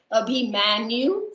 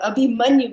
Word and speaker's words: Abhimanyu: Because see, you have to remember, you don't say Abhimanyu. No, Abhimanyu. Because A is like A. That you have to remember, pronouncing when you're pronouncing Hindi names.